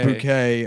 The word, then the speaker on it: Bucket: yeah she's a snobby the last name is bucket but she pronounces it she pronounces bouquet and then she's like